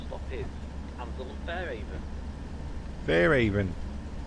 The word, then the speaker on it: Fairhaven: Fairhaven. He doesn't pronounce the H.